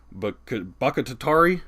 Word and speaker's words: Bakhtiari: Pretty average, but they do have a left tackle in David Bakhtiari. I can't say his name. Bakhtiari. Thank you. It's hard for me to pronounce his name, but he is a stud.